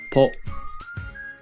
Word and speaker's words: ぽ: Ho with a handakuten is pronounced po.